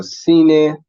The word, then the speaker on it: cena: not sell that so in these examples you will see the C sounds like an s right so that's one